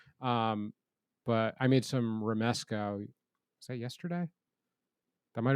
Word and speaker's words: Romesco: Yeah, Romesco.